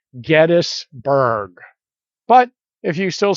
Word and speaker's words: Gettysburg: spoken to them and all of them agree that the name is gettis and so this is probably gettisberg but if you still